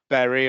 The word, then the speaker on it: Bury: Preston, Leeds, Bradford, Bury, or Bury as I pronounce it in Yorkshire, but it'd be good